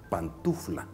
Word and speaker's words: pantuflas: oficio usted por ejemplo que no se dice pant un flan se dice pantuflas otras frases completas están